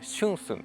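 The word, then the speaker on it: 春笋: タケノコと書いて春寸というらしいですね。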